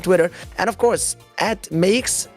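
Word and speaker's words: Meeix: and of course at Makes, M-E-E-I-X, pronounced Makes, as she puts it on Twitter, and of course Mr.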